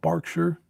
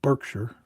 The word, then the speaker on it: Berkshire: Was in a gorgeous place of England, right in the middle in county of Berkshire. Here we would pronounce it Berkshire. But there is Berkshire.